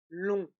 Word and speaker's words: long: Oui, lent, d'abord le A nasal, lent, ensuite lèvres étirées, lin, et finalement le O nasal, long.